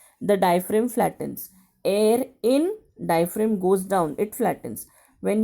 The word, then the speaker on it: diaphragm: will you pronounce it diaphram g is silent over here but when you write you have to write a g example you will write